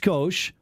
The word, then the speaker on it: Scosche: skosh meaning it's little it is pronounced skosh the company was founded